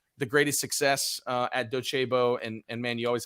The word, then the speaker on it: Docebo: say like is it dosabo docebo and and so they asked me and i said you have to say it like the italians and docebo and it's a latin phrase well about a week